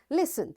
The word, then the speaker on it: listen: So when I'll say listen, the child, because in listen T is silent, the child who is holding T will sit down. And this is how we say this word, listen.